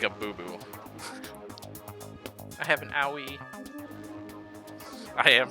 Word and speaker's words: Aoi: I have an Aoi. I am pronouncing it right?